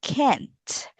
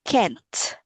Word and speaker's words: can't: So make sure you will not forget the T sound at the end because it sometimes can sound like can instead of can't.